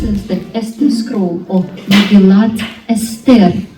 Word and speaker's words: Megillat Esther: And this is the Esther scroll of Megillat Esther, how they pronounce it in Hebrew.